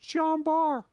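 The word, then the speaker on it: Jean Bart: t it's it's pronounced john barr okay i'm not french calm down well yeah it is literally spelled bart but you know the french they don't pronounce the consonants people get bent out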